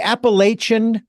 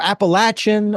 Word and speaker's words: Appalachian: uh and again I correct me on the pronunciation of this yeah the Appalachian Trail or Appalachian or appalachin I keep hearing different people calling it different things but well um